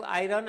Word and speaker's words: iron: इज a useful metal Etah आयरन हम पढू बट मन रखि था एठी तमर आर टा silent आयरन इज a useful